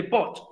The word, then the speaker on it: bought: Y recuerden, la GH no se va a pronunciar.